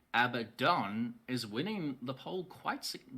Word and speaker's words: Abaddon: But it does seem like Abaddon is winning the poll quite significantly right now with a bad one. Because it's correct. Abaddon is correct.